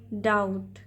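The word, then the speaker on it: doubt: कहेंगे डिस्मिस संध ट डाउट इसमें बी जो है लेटर व साइलेंट होता है तो संदे यानी डाउट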